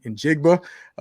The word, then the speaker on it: Njigba: I always pronounce his name wrong, man. Njigba, the wide receiver from Ohio State.